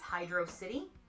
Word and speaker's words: Hydrocity: If you ask Argic and probably most of the community, they will tell you it's Hydro City. If you ask other people, it's Hydrocity.